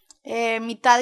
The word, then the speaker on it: mitad: Mitad y mitad. Mitad, mitad, so that means like you can choose 2 flavors. Mitad y mitad. Like half and half. Mitad, M-I-T-A-D, mitad y mitad.